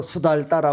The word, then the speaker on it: 수다타: 큰 도시에 사는 이 수다 따 우리말로는 수다 따라 고도 하고 수달 따라 고도 하고 이제 발음이 조금 차이가 나기 때문에 흐르는데 이 수다 따라